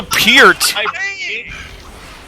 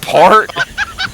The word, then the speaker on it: Peart: Peart, not Part.